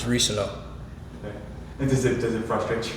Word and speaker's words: Reescano: I'm going to say it right now, so hopefully stop it. It's Reescano.